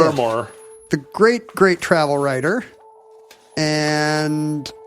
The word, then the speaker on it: Fermor: Fermor.